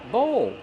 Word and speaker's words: bowl: do we pronounce bowl bowl use a long o like no and go plus the dark L bowl bowl this is